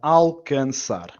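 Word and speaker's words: alcançar: Whenever we get this funny little C with a squiggle at the bottom in Portuguese, it's pronounced as a S as opposed to a C.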